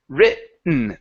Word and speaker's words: written: saying written we say written written written written yep written we go from the vowel straight to the n and skip over the T written okay I guess uh